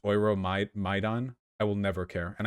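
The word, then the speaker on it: Euromaidan: Just so you know, your maiden is pronounced Oiro Maidan.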